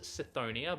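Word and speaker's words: Cthonia: found on a barbarian planet known as it's pronounced seonia but I I reckon it's konia think I think I think that sounds better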